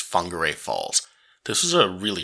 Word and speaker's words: Whangarei: I think it's pronounced whangarei falls again if you missed the last video this wh here is actually making sort of like the F sound so I think it's whangarei Falls this is a